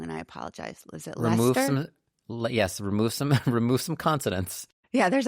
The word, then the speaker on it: Leicester: want to pronounce it Leicester, but you just get rid of some vowels and consonants and just say Leicester.